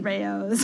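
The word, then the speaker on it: Rao's: So I didn't know it pronounced it called correctly. Rayo's.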